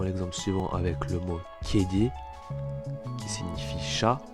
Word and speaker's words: kedi: On le voit dans l'exemple suivant avec le mot kedi qui signifie chat. Le E ici se prononce E.